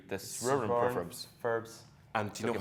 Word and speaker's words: Soronprfbs: The Soronprfbs. And do you know how to spell it?